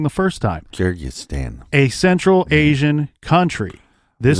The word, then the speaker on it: Kyrgyzstan: So he got a wife named Larissa from Kyrgyzstan. Don't make me say that again because I said it wrong the first time. Kyrgyzstan.